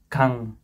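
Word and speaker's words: 강: Jadi teman-teman ini bisa baca g, a, atau giok, a, ieng. Jadi menjadi kang, kang, kang, kang, artinya sungai, sungai itu kang dalam bahasa Korea, gitu.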